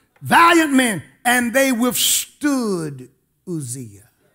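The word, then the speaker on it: Uzziah: men and they withstood luzia some people pronounce it Isaiah Isaiah they withstood the king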